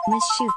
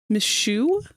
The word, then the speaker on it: Mishu: Is that how your name's pronounced? Miss Shoot. Then, Villain of Legend. Villain of Legend. can now hatch from their egg. Yeah, I had a feeling that wasn't correct. Mishu, Mishu, VTuber, I wish to loaf on you.